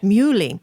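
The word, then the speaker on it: Muhly: with the American composer Nico Murli is that how we pronounce actually mu Lee who is he's a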